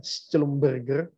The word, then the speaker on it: Schlumberger: Nah ini tulisannya Schlumberger, bacanya Schlumberger ya.